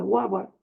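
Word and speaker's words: Galwan: El conflicto militar que tenían entre India y China, por un valle, por el valle de Huawa, se pronuncia así, rico porque es el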